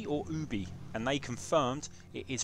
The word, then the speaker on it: Ubisoft: year we tweeted Ubisoft to say do you pronounce it UB or Ubie and they confirmed it is pronounced Ubi all